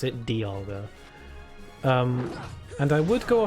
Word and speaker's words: Dialga: episodes they pronounce it dialga um and i would go off that pronunciation but then i realized that dialga just makes more sense because it's like diamond not demoned so dialga just makes